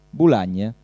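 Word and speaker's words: Bulàggna: e bologna come si dice in dialetto bulàgna in ortografia lessicografica moderna ci si mette il pallino per indicare che in certe zone viene è una volta era pronunciato così viene pronunciato bologna se non ci mettete il pallino non casca il mondo fate come volete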